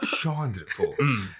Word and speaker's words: Chandrapaul: But the pronunciation is Chandrapaul.